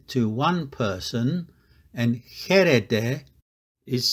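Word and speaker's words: χείρ: combination of the Epsilon and Yoda it is pronounced here here means hand it is feminine so it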